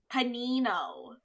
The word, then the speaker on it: panino: Cuz like apparently the correct way to say it is panino. Because panino is apparently like panino is the correct way to like say uh panini cuz panini is the plural for sandwich while panino is the singular.